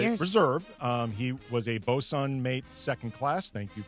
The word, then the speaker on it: bosun: I had to write it out phonetically to make sure I could pronounce it correctly. Didn't get it right. Yeah. According Bosun.